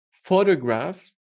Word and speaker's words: photograph: If it's the word photograph, you stress the first syllable. This means you make it a little bit longer and louder.